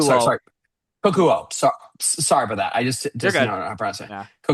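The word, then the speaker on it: Kokuho: Cuckoo. Sorry, Kakuo. sorry. Kokuo.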